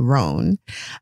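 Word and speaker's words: Roan: so her husband's name kate's husband's name is rohn and i'll say rowan because that's easier for me but it's spelled r-o-a-n rone um so uh rowan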